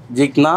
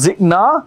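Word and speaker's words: Zegna: গুচ্ছি very good Z ই জি এন এ জিগনা জিগনা বি এল এম এ এন বেলমেইন নো বি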